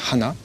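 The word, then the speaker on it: はな: Et l'histoire de ce personnage, c'est que le nez en japonais ça se prononce Hana, et puis les fleurs aussi ça se prononce Hana.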